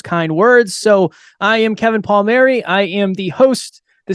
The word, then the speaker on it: Kevin Palmieri: personal development I have the pleasure to have Kevin Palmieri I forgot to ask before I press the